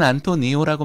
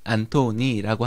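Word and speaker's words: Antoni: 예전엔 안토니오라고 많이 부르다가 요즘에 안토니로 부르는 경향이 있는데요. 그것은 이 똑같은 안토니라고 하는 이름을 스페인식, 스페인 중앙식의 중앙지방의 이름으로 발음하자면 안토니오고요. 가우디가 살았던 카탈루냐 지역의 방언 으로 이 이름을 읽자면 안토니이기 때문입니다. 그래서 최근에는 카탈루냐 말로 안토니 가우디라고 부르는 경향이 있습니다.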